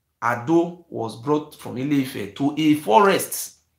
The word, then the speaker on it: Edo: Edo, the full pronunciation is not called Edo, it's called Ado.